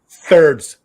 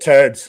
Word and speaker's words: thirds: Thirds. Okay, TH, right. Yeah. I'm not Irish, so I don't pronounce it turds like that. It's thirds.